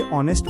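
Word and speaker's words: honest: ध्यान दें एन ऑनेस्ट मैन में एच चुप साइलेंट है। हम इसे ऑनेस्ट पढ़ते हैं इसलिए एन लगता है।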